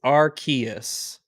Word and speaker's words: Arceus: arc okay yes it's canonically it's archaeas because they they released a book on it yeah it had a how to pronounce it how to say it in the book arceus